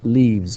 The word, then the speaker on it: leaves: So we say leaves. We just add S here and we pronounce it z.